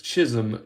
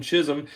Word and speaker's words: Chisholm: There's our friends Francisco Lindor and Jazz Chisholm Jr. I don't try to pronounce the L. I think that's actually how you're supposed to do it, is throw an L in there.